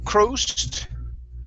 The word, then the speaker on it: crossed: Let's go to the word crossed instead of crossed. Okay, this is an ah sound.